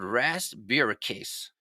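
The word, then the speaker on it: rasburicase: I've ever given it before but it's called Ras bucas and it's spelled r a s buur i c a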